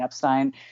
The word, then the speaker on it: Epstein: If you missed it, we posted a special mini-sode about how to pronounce Brian's last name, which is obviously Brian Epstein.